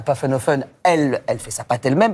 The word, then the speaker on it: Pfaffenhoffen: Est-ce que vous pouvez juste reprononcer le nom de la ville pour Emma, parce qu'elle est C'est fascinante. Pfaffenhofen.